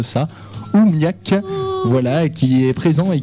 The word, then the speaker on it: oOmiaq: nous donc bonsoir bonsoir donc on dit OUAC oui bah comme il a ou enfin c'est un peu la prononciation à l'anglaise o m a Q tu je pourrais vous